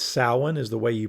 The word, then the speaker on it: Samhain: witchcraft's soap and scent it is Southern witchcraft Samhain that's incorrect it's salmon is the way you pronounce the kinkosa Gaelic holiday uh pronounced by